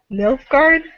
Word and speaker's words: Nilfgaard: don't know how to exactly say this, so Nilfgaard, the Empire, basically. Yeah, that's how it's pronounced in the game.